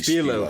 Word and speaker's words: Spilo: That's actually Spilo.